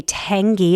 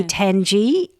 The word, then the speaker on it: Tangey: It's by Penny I think it's Penny Tangey. It might be Tangy, t a n g e y.